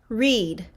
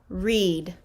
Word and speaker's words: read: word is read read i am going to read a book read so this is also the long e sound read now let's take a look at our next word here we have layla's suggestion which is red red now i have down below the word that we're gonna look at is red which is the past tense of read but they're spelled the exact same way so we have today